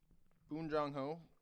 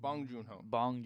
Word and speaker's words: Bong Joon-ho: Boon Jong-ho, Yeah, is that his name? I think so. I want to make sure I'm saying it right. Because Boom. Bong Joon-ho.